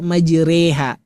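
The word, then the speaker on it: مجريها: I kan majriha kan gitu tulisannya. Tapi kok kita langsung baca majreha menambahkan huruf E misalkan kan gitu ya.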